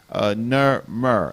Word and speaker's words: Narmer: people being the Remet, is pronounced Narmer as best as we can pronounce it, and it